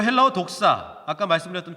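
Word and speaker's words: δόξα: 로 독사 라고 합니다 그래서 분명히 이걸 독사 뱀 그렇게 이해하시는 분들이 많을 거에요 아니에요 헬라어 발음이 독사 요 독사는 힙 으려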